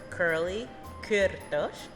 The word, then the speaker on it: Kurly Kurtosh: In Hungarian, it's pronounced Kurly Kürtősh, but you could say Kurtosh to make it easy.